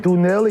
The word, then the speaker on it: Donnell: How do you say it is Dunell?